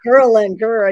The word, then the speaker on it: ghrelin: So when you can reset ghrelin, it might be called ghrelin, I'm pronouncing it. No, I think that makes me remember. It's ghrelin, you know?